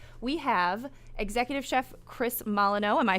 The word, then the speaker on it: Molyneux: food break, because we have executive chef Chris Molyneux.